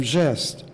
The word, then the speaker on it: geste: If we stay within Lacan's conceptual scheme, we might say that the hard G of the signifier Gestapo has been metamorphosed into the soft G of geste.